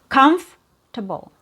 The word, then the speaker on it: comfortable: So, you only hear three syllables. Comf, which has a short u sound and it's clear. It's emphasized. And then you have your two reduced syllables. So, you have comfortable. Comfortable. I'm very comfortable. Are you comfortable? So it's not comfortable. Are you comfortable? So we don't have a vowel sound or a syllable after comf.